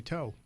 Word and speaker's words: To: I could have brought in Bill Hands or Raleigh Fingers, but instead we have Toe, although it's spelled T-O.